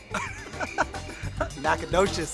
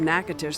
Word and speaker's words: Natchitoches: Natchitoches is how I'm going to say it. You'd be wrong. That's right. The rich history of Natchitoches surpasses even New Orleans, dating all the way back to 1714.